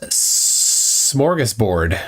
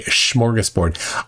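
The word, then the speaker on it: smörgåsbord: a pretty good number say schoras board I say smorgus board with an s i more often say Buffet though I have heard people say Buffett but I'm not going to take a poll on that my mom says morus board she does not say Buffet though she says bouet like Mom it's Buffet no it's bouet Mom it's smorgasport no it's schoras sport okay mom um icy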